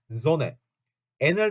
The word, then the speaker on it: Sonnen: 발음 좀 되게 이상하죠. Sonne. n을 두 개를 같이 붙이면 zonne 이렇게 읽혀요.